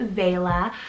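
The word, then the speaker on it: Vaela: meaning princess next i have vela spelt v-a-e-l-a vela i love the spelling of this one it's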